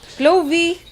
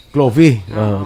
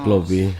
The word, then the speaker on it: Chloe: Tsaka man guro pag-pronounce ko sa ngalan Kag kay Chloe, Clovey. Chloe, Chloe. Ara na siya, Sino?